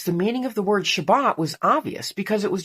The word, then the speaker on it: Shabbat: Sabbath is actually just the English pronunciation of the Hebrew word Shabbat.